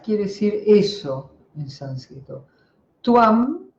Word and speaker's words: tvam: Tuam, la B corta se pronuncia U, tuam, tú, como en castellano.